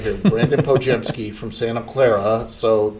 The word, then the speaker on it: Podziemski: Brandin Podziemski. Brandin Podziemski. I've got the phonetic pronunciation right here. Brandin Podziemski from Santa Clara, so not far from here.